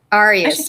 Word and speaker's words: Arias: Arias, like the letters.